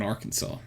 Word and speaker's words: Arkansas: sorry duh archives always spelled Kansas with an AR in front of it but not pronounced similarly at all it's Kansas in Arkansas you say it was